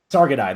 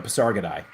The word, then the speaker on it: Pasargadae: How do you pronounce them? Paris God or something? Pasargadae? Pasargadae. There we go. Pasargadae.